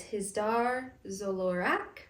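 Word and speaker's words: Hizdar zo Loraq: And his name is Hizdar Zolorak. oh, she nailed it. I wrote it down.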